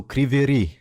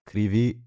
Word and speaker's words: Kryvyi: Ah, so Kriveri. It's just Kry- one R. Krivi.